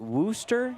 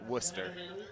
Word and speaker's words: Worcester: Is it Worooster? Is it pronounced Worooster? Uh I think in you know Boston fashion or mass you know New England Massachusetts it's like Worster.